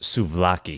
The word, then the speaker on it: souvlaki: Yeah, and I mean, the way you pronounced it, I think it's pronounced souvlaki.